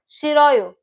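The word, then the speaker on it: 싫어요: is, sorry, excuse me, in pronunciation it is she, ro, yo. She, yo. So she, yo. Shiroyo. Shiroyo, if you pronounce it together.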